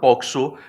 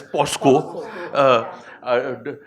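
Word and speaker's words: POCSO: policy are you aware of poxo which is constantly mispronounced as Poco uh do you have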